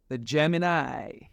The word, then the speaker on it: Gem-In-I: that we can grow the Gemini I came up with the name Gemini podcast not only because I'm a Gemini baby but the word Gemini I has three syllables